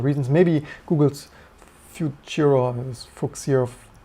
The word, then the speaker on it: Fuchsia: Maybe Google's future, or fuchsia, some people told me it's pronounced like future.